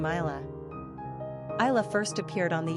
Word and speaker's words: Ayla: If you do pronounce this name as Ayla, then it's basically similar to Isla, another name of totally separate etymological origins.